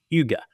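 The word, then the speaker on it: hygge: I pronounce this correctly I should know but hiji AI or h y g g this is is part of the last chapter and it's pronounced Huga asan Scandinavian Yuga and it's very popular I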